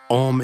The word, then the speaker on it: Om: Om is made of three sounds, A, U, M.